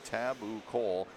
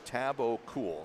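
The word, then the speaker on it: Tabucol: it's it's spelled t-a-b-u-c-o-l taboo Cole he said just switch the O in the U so taboo cool so I guess we'll say tabacool or Tristan or because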